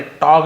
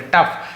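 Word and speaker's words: tough: द टफ time से टफ पड़ेंगे टॉग नहीं पड़ेंगे टफ जैसे कफ होता है ना वैसे टफ होता है फ ऐसे उच्चारण होता है यू डिड नॉट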